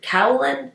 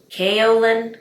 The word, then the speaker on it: kaolin: called the kaolin clay is it kaolin or kaolin kaolin clay I believe that's how you say it but you get 1.7